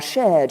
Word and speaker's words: shared: Oh, say In the words shared, hard, and work, most Brits will not pronounce the R sound, but most Americans will. And proud of our shared European heritage. We have shared in the heights of victory.